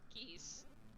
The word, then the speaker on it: Geese: geese yeah i've heard geese like geese like the birds is how his name is spelled and pronounced oh my god yeah